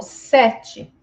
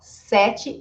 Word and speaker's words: sete: Ó, sete. Este e aqui também é aberto e não tem acento, mas ele é sete, sete aberto, tá? Mas vejam que o e final eu pronuncio com som de i.